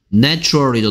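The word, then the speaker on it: natural: 뭐다 이거죠 발음이 뭐예요 내추럴이죠 내추럴 a의 발음이 뭐다 에 발음입니다 그래서 명사일 때는 a가 a 발음 나서 네이처였는데 형용사일 때는 내추럴이다 다 알고 있는 거니까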